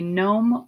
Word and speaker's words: gnome: this week Crypt and gnome that g is silent so we say gnome or Nos and this